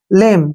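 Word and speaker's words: lamb: है बी आया है तो बी का उच्चारण हमने नहीं करना है यहां पर एल से हो गया ल और ए से हो गया ए की मात्रा और एम का उच्चारण मे हो गया लेम क्या पढ़ेंगे इसको लेम लेम मींस क्या होता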